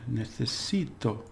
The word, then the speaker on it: necesito: Necesito, because it ends in a vowel, the stress is on the second to last syllable.